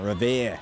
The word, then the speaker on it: Revere: Revere.